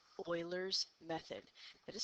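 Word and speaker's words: Euler's: hello today we are talking about what's called Oilers method it is spelled e l r um however it is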